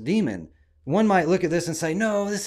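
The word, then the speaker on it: daemon: demon it's d-a-e-m-o-n but we just heard in the clip that it's pronounced demon one might look at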